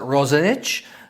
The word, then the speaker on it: Roxanich: I think you would pronounce it in English as Roxanich, but I think in Croatian they pronounce it Roxanich.